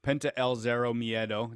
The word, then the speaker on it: Penta El Zero Miedo: so already confirmed is cody rhodes scorpio sky penta el zero miedo did i pronounce that properly yeah yep lance archer and